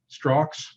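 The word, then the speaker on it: Strzok: on compromised and this is the man you pronounce his last name strox uh who discovered the americans if you've seen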